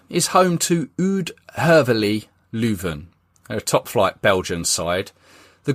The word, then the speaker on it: Leuven: However, that has now been changed to a ground called the Den Dref, in the nearby town of Leuven. I think that's how you pronounce it, Leuven.